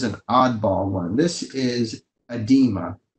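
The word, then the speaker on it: oedema: oddball one this is edema starts with an O but it's like the O is silent edema edema is like a blistering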